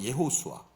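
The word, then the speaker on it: יהושע: 다 아시는 분은 다 아시지만 여호수아는 히브리어로 예수아라고 얘기 이제 말을 합니다. 예호수아. 그러니까이 히브리어 발음이 우리가 쓰는 말하고 조금 다르죠.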